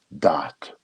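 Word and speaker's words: Daath: it's not a sephirot it's called dot it's spelled d-a-a-t-h it sounds familiar right and it's between the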